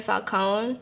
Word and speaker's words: Falcone: so my social media is at underscore Falcone that's GI na underscore FAL cont and it's pronounced Falco not Falcon not Falcone yeah I'm